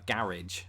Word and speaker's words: garage: British say it uh garage I'm gonna park the car in the garage Americans do what Southerners and England do with the word bath garage they extend the a garage it's a mouthful